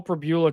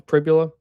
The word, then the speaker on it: Pribula: Look, what look when you have Bo Pbula coming to visit. Yeah, it'll be healed pretty quickly when you realize uh that he can um Did I say it wrong again? Pribula.